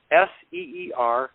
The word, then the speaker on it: Ceres: At the very beginning of the write-up on Wikipedia, it says, Ceres, Ceres, pronounced Seer-EEZ.